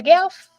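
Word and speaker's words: Gauff: I say her name right right it's a gelf you know I will tear up somebody's name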